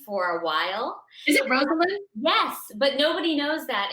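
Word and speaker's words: Rosalynn: called her rosalind for a while is it rosalind yes but nobody knows that and she hates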